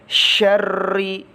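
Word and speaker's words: شَرِّ: Nah, anak-anak, cara melafalkan huruf shin itu berbeda dengan sin. Kalau shin itu cenderung tebal, kalau sin itu cenderung tipis. Jadi bacanya syarri ghasiqin.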